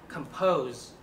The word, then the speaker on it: compose: Cụm đầu tiên là compose. Nhớ đây là âm z.